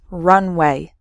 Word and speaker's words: runway: before taking off so the first word has three syllables run away and the second word has just two syllables Runway completely different meanings okay